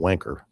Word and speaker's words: Vanke: The the the the locals the the the the locals call it wanker, but then that's true.